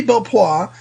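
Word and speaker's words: Belpois: have very different personalities from each other Jeremy BPA is and I said it right this time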